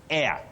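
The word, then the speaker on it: heir: But the next word, you say air. That H is silent. H-E-I-R, air.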